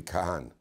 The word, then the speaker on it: Kagan: Because the G doesn't get pronounced. Yeah. It's really Kahan. It's like Kohen, Kahan. Kagan, spelled the Kagan is a mispronunciation.